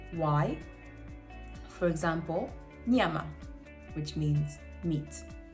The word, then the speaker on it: nyama: Nya, which is a very similar sound to sort of slimy sound, which is spelled Ny. For example, nyama, which means meat.